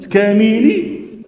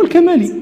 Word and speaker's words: الكمالي: وأنت ما تسمع ما تشاء، الكملي، الكمالي، الكمالي، الكاملي. وهذا عجيب، لأن أسهل شيء يمكن أن تنطق به هو الكمالي، وهو الصواب.